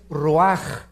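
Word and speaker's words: רוח: Nep se pronuncia nepej porque la ch en hebreo es nepeg y la palabra espíritu es roaj. Se escribe ruach.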